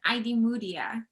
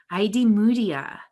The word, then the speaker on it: Idemudia: pronounce your last name it's pronounced idmudia id moodia all right so i